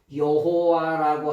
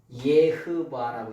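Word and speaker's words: YHWH: 여호와라고 하는 말은 독일 말이에요. 독일말. 독일말 독일어. 원래 이드해 와해를 뭐 어떻게 읽냐? 예바라고 읽어요. 예바. 원래 발음은.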